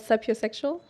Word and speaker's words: sapiosexual: I don't know if you know a thing called sapiosexual.